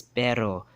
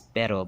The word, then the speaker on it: pero: Another one here is pero, right? Another one is pero, but Chabacano speakers, because of English influence, they'll have a tendency to pronounce it as pero, instead of pero, or para, right?